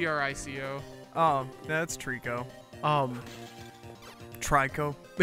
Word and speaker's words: Trico: It's like T-R-I-C-O.